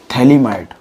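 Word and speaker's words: phthalimide: गैब्रियल्स थैलीमाइड, इसमें pH silent रहती है, तो थैलीमाइड तो है ही रिएक्शन।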